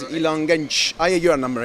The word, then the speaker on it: Genç: It's Ilan Genç. Ah, yeah, you are number 8. Yes. I pronounced properly this time, right?